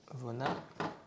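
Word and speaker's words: вона: Pareil pour Vona. Vona. Qui se dit Vona. Donc ça veut dire elle. Donc ça c'est le V et ça c'est le N. Donc Vona qui veut dire elle.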